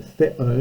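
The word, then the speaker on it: θέων: But Agamemnon came theo, notice the accent, it's from theo, to run, not that the gender plural of theos, God, the accent's on the last syllable.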